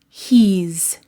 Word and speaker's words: he's: He is, he's with a Z sound.